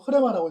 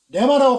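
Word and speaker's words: ῥῆμα: 여기 발음을 보면 흐레마라고 합니다. 어떤 분들은 이 흐레마를 레마라고 발음합니다. 그러나 레마가 아닙니다. 정확한 발음은 흐레마입니다. 잘 참고하시고 하나님의 흐레마로 지어진 그 존재들을 바로 아이온이라고 그러고 아이온이라고 그럽니다.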